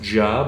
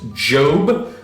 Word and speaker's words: Job: numbers Joshua and uh you can pronounce a job although you can also pronounce it Jobe those would of course